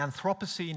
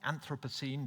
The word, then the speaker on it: Anthropocene: And the Anthropocene, if you like, or the Anthropocene, depending on your pronunciation preference, it is different.